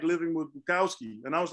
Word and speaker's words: Bukowski: No, to be honest, it's actually, his name is actually Bukowski. His name is pronounced Bukowski. It's a Polish name, but that's fine.